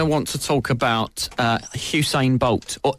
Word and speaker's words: Usain Bolt: Essex all I wants to talk about a Hugh sign bolt or who's saying bolt as it's actually pronounced I discovered the other day yeah is